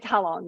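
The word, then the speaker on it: Halong: Oh, it's how long? Yeah. Yeah, How how long?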